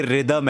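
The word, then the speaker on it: rhythm: तो जरूर पूछा है की जब बोलते रिदम है तो रिदम क्यों लिखने हैं जैसे रितिक रोशन है ना की उसमें हा जो है वो साइलेंट है वैसे ही रम उसमें वो हा जो है वो साइलेंट होता है तो इसलिए वो रिदम हो जाता है मेरे हिसाब से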